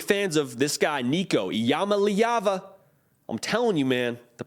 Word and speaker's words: Iamaleava: three are big fans of this guy Nico Yama liyava I'm telling you man the pronunciation game is nice right now over here